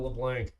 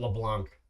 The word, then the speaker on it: LeBlanc: So, we have Leblanc. Or was it LeBlanc? It's It's actually neither. It's LeBlanc, so the C is silent.